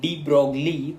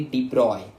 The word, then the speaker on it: de Broglie: let's now continue with de Broglie hypothesis. I know what I pronounced. It is like looks like de Broglie, but it is actually de Broglie, the proper pronunciation of a great scientist.